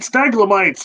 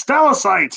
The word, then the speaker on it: stalactites: He said staglamites. It's stalactites. Oh, gee, sorry.